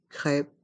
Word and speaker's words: crêpe: sandwich une crêpe une crêpe ici le P reste en suspens une crêpe une crêpe